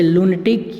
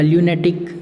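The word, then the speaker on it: lunatic: तो उसे लूनेटिक या ल्यूनेटिक कह सकते हैं। दोनों इसके प्रोनाउंसिएशन हैं। तो एक प्रोनाउंसिएशन तो हो सकता है लूनेटिक और एक प्रोनाउंसिएशन हो सकता है ल्यूनेटिक, दोनों सही है।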